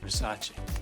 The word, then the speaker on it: Versace: It's pronounced Versace.